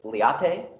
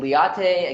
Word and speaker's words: LIATE: parts another made-up word rhymes with karate i pronounce it lyate and liate again made-up word but